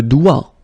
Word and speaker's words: doigt: Okay, so don't be frightened by this G because basically you don't pronounce it and then the final T you don't pronounce it. So the only thing you've got to pronounce is this combination of three letters, sorry, here, D, O, I. Okay, O-I, it's wa, and then D, doigt.